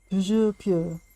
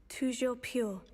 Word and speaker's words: Toujours pure: Toujours pure. Toujours pure.